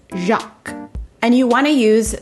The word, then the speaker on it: Jacques: villager so it looks like it could be jacquez or jack it does have an english equivalent in french which um is it is the french version of jack i believe but it is pronounced jacques and you want to